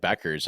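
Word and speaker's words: Bueckers: Is Paige Buchers? Buchers? Yeah. Yeah, Buchers or Becker it's almost like Becker's, actually.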